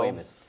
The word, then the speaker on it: squamous: And squamas cell carcinoma, did I say that correctly? Uh, we pronounce it squamas cell. Squamus.